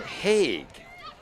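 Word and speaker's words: Haigh: then number 17 alison hague you do pronounce the g i remember years ago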